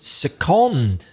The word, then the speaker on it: second: that i imagine but you may not know the word second which is the same spelling s-e-c-o-n-d but now stressing the second syllable and it means to